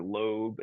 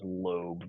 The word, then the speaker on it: lobe: l o stands for lobe and even though the E is dropped off we're still going to pronounce that as lobe versus lob the rack SL o